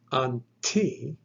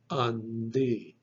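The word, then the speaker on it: αντί: You would not pronounce it unti. The tav actually gets softened or vocalized, and it is pronounced then undi, undi.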